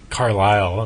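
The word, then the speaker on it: Carlisle: something hard to spell carile there's a silent silent s oh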